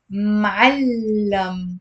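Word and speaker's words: معلّم: Now, the next word was معلم with a fatha and a shadda on the lam.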